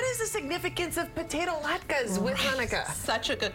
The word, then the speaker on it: latke: So this is how you make the latke.